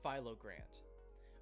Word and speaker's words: philogrant: Okay, the brand name would be pronounced philogrant, but then I made up a new word, philogrant.